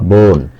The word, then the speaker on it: বোন: যাবে না কিন্তু আপনার বোন এই যে এক বই এর উচ্চারণ হয়েছে একটু দীর্ঘ করে পড়বেন বোন বোন না বোন আর সোনা সোনা এভাবে না সোনা এভাবে এক অক্ষর হলে এই ওকারটা হবে দীর্ঘ আর এক অক্ষর না